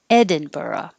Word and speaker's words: Edinburgh: caveat caveat edinburgh which i also think i've heard a lot of americans pronounce it berg so you will hear people say edinburgh but dictionary had edinburgh mastered math the vowel